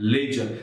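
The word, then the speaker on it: ledger: बनाना क्या बोलते हैं लेजर स्पेलिंग देखो जरा एल ई डी जी ई आर लेजर मत बोलना लेजर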